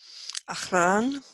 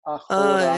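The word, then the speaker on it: אָחֳרָן: Tav is like Tov, Achran. but that has an O in that syllable, so it's Achoran.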